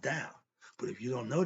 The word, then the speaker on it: Tao: But in Chinese, you see the T-E-O, what spells Tao, is pronounced Tao. But if you don't know that, you'll call it Tao.